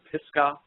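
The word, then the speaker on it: Pisgah: and I found out it was called the pisca crater area and that's spelled p i s g ah and it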